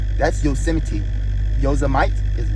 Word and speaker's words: Yosemite: then we're going to be going to I pronounce it yosmite but it's pronounced yosity but I'm calling it yite because it's spelled